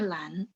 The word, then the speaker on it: 篮: Ini bacanya lan.